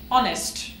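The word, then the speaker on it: honest: की साउंड देते है so let's see house ऑनेस्ट आ अब इसको आप आ भी प्रोनाउंस कर सकते हैं आवर भी प्रोनाउंस कर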